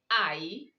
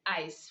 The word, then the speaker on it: eyes: For example, we have eyes, play, plays, days. So you don't go saying days. You don't go saying ice for EYES. Rather, you say eyes.